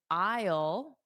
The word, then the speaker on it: isle: I think what Manuel said, if you just think of it like the word isle, I will is really the same pronunciation. So just imagine you're saying I will as a contraction.